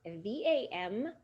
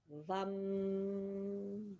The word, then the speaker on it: VAM: The mantra relating to this center is VAM, V-A-M, but it is pronounced V-U-M, VAM, VAM.